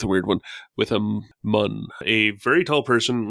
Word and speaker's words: Muun: Or the species is spelled Muun, so mun.